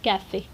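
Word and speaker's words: café: बट अगर ई के ऊपर कुछ भी नहीं होता तो हम कहते काफ, पर हम कहते हैं काफ़े। क्यों? क्योंकि ई के ऊपर एक एक्सेंट है इस तरीके से फॉरवर्ड वाला, और तो प्रोनाउंसिएशन चेंज होगा काफ़े।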